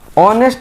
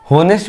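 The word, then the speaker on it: honest: ऑनेस्ट देख रहे हैं, ऑनेस्ट में हम लिखा हुआ है H, लेकिन हम इसे ऑनेस्ट पढ़ते हैं। होनेस्ट भी तो पढ़ सकते हैं, लेकिन ग्रामर के अनुसार होनेस्ट को हम ऑनेस्ट पढ़ते हैं। तो H इसमें साइलेंट हो गया।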